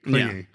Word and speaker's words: Klinge: Yeah, Klinge is usually the most common mispronounces. So how is it that you actually say it again? Klinge. Clingy. Yeah. Okay, I can try to describe so and so. They're very clingy.